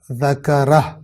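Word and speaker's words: ذكره: تمام ہو رہی ہے، لہٰذا ہو کے پیش کو ضمہ کو پڑھا نہیں جائے گا اور اس لفظ کو اس طرح تلفظ کیا جائے گا فمن شاء ذکرہ.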